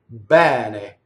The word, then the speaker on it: bene: Most of Italy says it open, right? As the farther north you go, it becomes a closed word, right? So if you're singing in north of Italy, you'll have to say bene, right? Bene is most of Italian, right? Bene, open E, closed E.